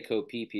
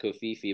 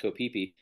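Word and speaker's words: Koh Phi Phi: go to places that like a path like kopipi or kofifi if you they actually say kopipi instead of kofifi but it's have you ever watch the movie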